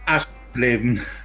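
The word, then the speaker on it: Aschersleben: Can you pronounce that, Blob? Aschleben.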